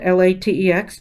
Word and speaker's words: LaTeX: It's spelled L-A-T-E-X, but we say LaTeX, and it's L-A-T-E. Well, I don't know. I've seen it in a few ways. And that is a text-based language in which mathematics can be rendered.